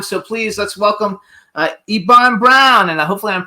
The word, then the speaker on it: Eban: so much thank you so that's how we pronounce it ibon brown right uh uh eban Brown eban okay okay see we wanted to get it right I would have pronounced it Evan Evan well you can do that eban or